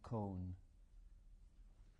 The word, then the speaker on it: Kohn: And the survivor is Con. What's your name? Can you spell that?